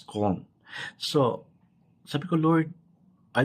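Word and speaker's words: Köln: Colon ang spelling niya colon but it's pronounced as con.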